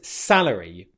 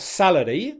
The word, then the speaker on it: salary: Stress on the first syllable. Salary. Again, make sure your R, the tongue doesn't touch the roof of your mouth. It's not salary. That could sound like celery, which is a salad item. Okay. Salary. Salary. Make sure you've got a nice vowel sound on the first syllable there, and then your tongue doesn't touch the roof of your mouth for the R sound.